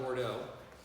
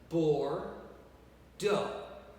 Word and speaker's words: Bordeaux: we're gonna talk about Bordeaux we are going to look at for Doug that's how we pronounce it poor Doug Bordeaux okay and Bordeaux is